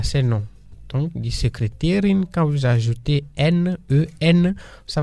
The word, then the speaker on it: Sekretärin: Par exemple, on va dire die Sekretärin. La secrétaire en allemand, c'est comme ça, on lui dit die Sekretärin. Ça s'écrit S majuscule E K R E T A tréma R I N.